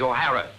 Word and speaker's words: O'Hara: do you remember saying my name is not for horror it is o'hara here mr o'hara yes